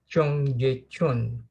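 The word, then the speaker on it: 청계천: in Seoul, South Korea, that's the pronunciation. Chungyecheon. I actually had to consult one of my Korean students to make sure I pronounce it correctly.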